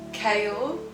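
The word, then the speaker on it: Chaol: go with Sela yeah kale yeah like chaos but with an l k like like Kale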